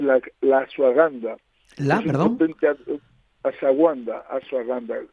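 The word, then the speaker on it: ashwagandha: La asaguanda asaganda se escribe muy muy te lo pronuncio así, pero se escribe un poquito más complicado porque a s h a g a n d h tal.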